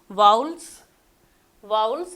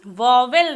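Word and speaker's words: vowels: 2 parts में first part है वाउल्स, और सेकंड पार्ट है कॉन्सोनेंट्स। वाउल्स को हम वॉवेल नहीं बोल सकते हैं, ये बोलना बिल्कुल गलत है, क्योंकि इसका प्रोनाउंसिएशन है वाउल्स।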